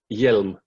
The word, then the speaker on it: Hjelm: The H is actually silent, so it's Hjelm. Hjelm, anyway, Pontus Hjelm from Dead by April.